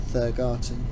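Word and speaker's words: Thurgarton: garden thursday third garden that's how to pronounce the as in thursday because it's th you are in there like thursday said thurgarten and interestingly this side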